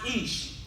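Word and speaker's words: אִישׁ: It's pronounced Ish.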